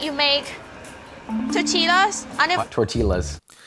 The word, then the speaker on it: tortillas: I bet it's the same like you make tortillas. Tortillas. Did she say tortillas? Tortillas? We're gonna have a talk here. Let me get my bearings. Tortillas. It's tortillas! Yeah, that's not how you say it.